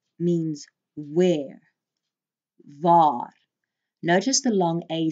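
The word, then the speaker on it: wie: V VAR means where VAR notice the long a sound there with the Double A's can you say it with me VAR V means who or even whom V notice the short e sound say it with me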